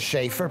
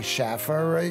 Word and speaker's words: Schaefer: getting it right well my name is Schaefer people say Schaffer you just got to